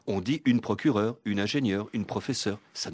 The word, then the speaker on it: procureure: est le suffixe EURE, avec un E final, qui, je le répète, n'est plus prononcé depuis le XVIIe siècle. On dit une procureure, une ingénieure, une professeure.